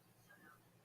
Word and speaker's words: Sukkot: The Hebrew pronunciation of sukkot is sukkot, but is often pronounced as Yiddish, to rhyme with bogas.